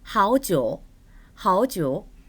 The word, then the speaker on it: 好久: 好久, 好久. 삼성과 삼성이 연결되었기 때문에 앞에 하오는 이성으로 발음합니다.